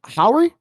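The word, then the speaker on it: Howery: of uh Rod played by little real uh Howry Howry is how you say his name and I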